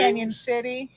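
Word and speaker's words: Cañon City: is that steamboat springs steamboat springs steamboat springs canyon city canyon city all around them which actually is is spelled cannon city you know why they know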